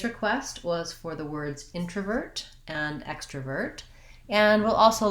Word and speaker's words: introvert: in, introvert versus extrovert, and that means that the letter O is in an unstressed syllable, and so it's not like when I would say the word intro. I'm going to give you an intro where I use a clear O. Instead, that O changes to a schwa sound.